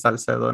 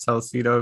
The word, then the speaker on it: Salcedo: It's Salcedo, not Salcedo, if that's what you're trying to say.